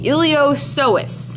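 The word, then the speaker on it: iliopsoas: with the hip with the ilos sois yes the p is silent I don't know why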